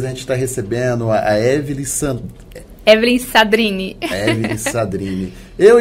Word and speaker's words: Evellyn Sadrine: Agora acertou, Evelyn Sadrini. É uma pronúncia um pouquinho complicada. Tudo bem, Evelyn? Bom, tudo bom. Meu nome é Evelyn Sadrini, tenho 30 anos, sou mãe de um bebê